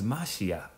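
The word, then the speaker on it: משיח: he he break um pronunciation of how you say um the anointed is mashiach so I mean why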